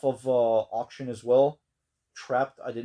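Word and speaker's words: Trapt: add to the collection I believe that's how you pronounce it t r a PT trapped and I also did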